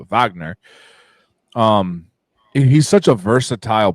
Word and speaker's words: Wagner: found out that it's Vagner it's not it's a w but it's pronounced uh Vagner um he's such a